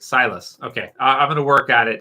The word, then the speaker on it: Silas: uh c you know that's a sciss right silas okay i'm gonna work at it because i keep i keep accidentally calling him uh uh see lass or science uh so agent 86 has said